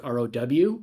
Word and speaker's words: Rheault: don't they could spell my name is pronounced like row but it's spelled r-h-e-a-u-l-t um but if you